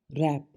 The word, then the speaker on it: wrap: WRAP रैप, W की कोई sound नहीं है, लपेटना।